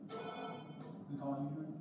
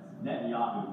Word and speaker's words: Netanyahu: The colony? Yep. Netanyahu, but it's cool. You got all the syllables there, it's all good. Just put the emphasis on the wrong syllable, so it's really good.